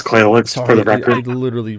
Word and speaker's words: Clayx: It's Clayx for the record. I literally rolled my tongue. I've been mispronouncing shit tonight. Anyway, you already know Bonsai and you already know Claylex, but tonight we're going to be talking a